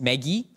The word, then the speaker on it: Magi: But basically, these people, the Greek word, I like to pronounce it Magi, sounds less easily confused with Maggie Noodles.